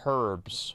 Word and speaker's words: herb: know it's not no it's pronounced herbs right that's why there's the H at the beginning herb okay one second here